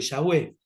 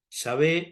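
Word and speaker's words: Yahweh: Dios estoy hablando de yahwe yavé o yahwe como lo quieran pronunciar eh que no es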